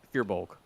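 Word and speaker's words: Firbolg: never pronounce it correctly fear bulg fear as in Fe yeah fear even though it's like a fur like a tree yeah it's fear bulg I mean either or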